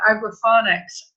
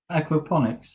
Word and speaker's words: aquaponics: And also what you say, Lee, about food being the same, that's a question I always ask about agroponics. Am I saying it correctly? Aquaponics.